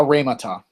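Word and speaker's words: ῥήματα: Now you don't have to pronounce the rough breathing mark. Oh. Yeah, not over a row. A row always has a rough breathing mark, but you don't pronounce it.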